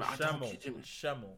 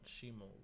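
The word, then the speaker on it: Schemmel: Oh, Sean Shemmel, not Shimo.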